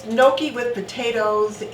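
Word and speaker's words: gnocchi: you say it noi or noi but it's Noki with potatoes and it's like a dumpling and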